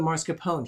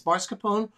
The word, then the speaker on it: mascarpone: same thing with the mascarpone he's going to be adding that now it's marscapone or mascarpone depending on how you want to pronounce it if either one is acceptable and uh he is